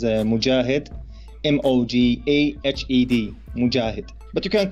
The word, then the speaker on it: Mojahed: Hi, for you and for your audience, you can pronounce my name as Mojahed.